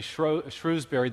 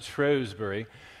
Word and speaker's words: Shrewsbury: A year ago, I had the opportunity to go back to England and to lecture in what we Americans would say Shrewsbury, the British pronounce it Shrewsbury, and it's the birthplace